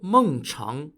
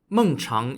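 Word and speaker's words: Mengchang: them I'll give you another example the Lord mongchang was an aristocrat in the Kingdom of chi spelled Qi during the early 3rd Century BCE mungchung is spelled m-e-n-g-c-h-a-n-g the Lord was famous for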